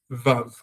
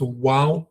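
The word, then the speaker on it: ו: So without getting into language politics is not for Israelites, neither is vav. It's wow and raetsim.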